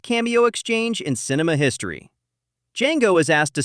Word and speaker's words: Django: Django is asked to spell his name. He does. He explains, "The D is silent."